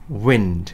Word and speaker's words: wind: 자, 그 밑에 있는 바람은요, 이거 wind라고 읽는 거 아니고 I가 E 발음 나죠? wind 라고 읽습니다. 어떻게요? wind.